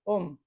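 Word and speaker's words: ॐ: recordamos que esta vibración este om es una abreviación porque el sánscrito tiene unas reglas de pronunciación pero en realidad son tres letras no son dos letras es la a la u y la m estas tres letras estas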